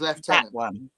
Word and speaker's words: lieutenant: Yeah, the correct thing is left tenant. I think nowadays some people just say lieutenant because they don't get it.